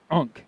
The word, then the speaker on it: Ankh: It means life, and it's pronounced Ankh.